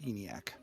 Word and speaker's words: ENIAC: I do know it's pronounced ENIAC.